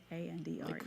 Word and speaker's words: Andrej: It's spelled Andrej, so kind of like a Andrej. foreign version.